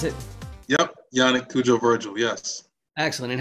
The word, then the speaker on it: Cudjoe-Virgil: Cudjoe-Virgil, is that how you pronounce it? Yep, Yannik Cudjoe-Virgil, yes.